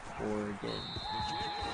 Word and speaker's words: Oregon: But Oregon is still 2 syllables. Oregon. Oregon. Yeah. They're both 2 syllables.